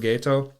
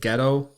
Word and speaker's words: Geto: Just the pronunciation of Suguru Gato. I've listened to a couple other people talk, and some people called it ghetto, like The ghetto. like they lived in the ghetto, but it's Gato.